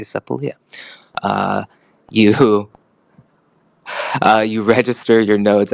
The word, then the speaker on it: Sepolia: Sepolia or Sepolia, or however you like to pronounce it. I say Sepolia.